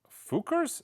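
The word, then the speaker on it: Fcukers: The name of this album is Fukers, F-C-U-K-E-R-S. Indie vinyl with printed insert and stickers. It's the Fukers. I'm saying Fukers, but it's phonetically, F-C-U-K.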